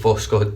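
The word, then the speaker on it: Voskhod: I'm going to go with Voscod because I could only find one Vascot, which was the one I found a while back, but Voscod appears to be the way it's pronounced, so I'm going to go with that.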